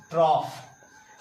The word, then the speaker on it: trough: ओ यू जी एच इसको पढ़ते हैं हम लोग ट्रॉफ इसको हम लोग ट्रॉफ पढ़ते हैं टी आर ओ यू